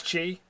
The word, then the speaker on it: Qi: I think with the Q it's still pronounced Chi anyway. Oh, with a Q it's Chi.